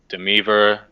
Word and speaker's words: Demeaver: I mean, How do you pronounce your name again? Sorry, I'm notorious. Demeaver. I thought it was Demever.